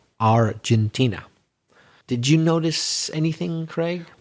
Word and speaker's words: Argentina: a couple of times instead of saying Argentina you said Argentina understandable since it's your own country but remember in English it's pronounced Argentina did you notice anything